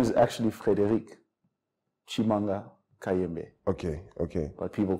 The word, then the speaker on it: Frederic: Yeah, not for everyone, not when you have to get it right. It's Frederick, dog. It's Frederick. Frederick.